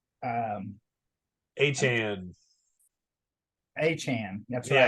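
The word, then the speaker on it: Achane: It's um Achan?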